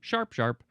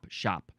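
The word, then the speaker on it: sharp-sharp: Okay, this depends on the dialect, but generally repeats the single word pronunciation as sharp twice, as in sharp sharp or shop. Some people, I guess, don't say the R.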